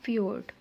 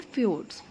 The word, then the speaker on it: fjord: अच्छा, नेक्स्ट है हमारे पास फ्योर्ड। मैनी माउंटेन रेंज, यहाँ पे जे साइलेंट रहेगा, ठीक है।